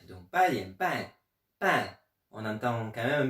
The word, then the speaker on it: 半: Ils me disaient attention, il faut quand même un peu entendre le N. Donc pas bien, pan, pan.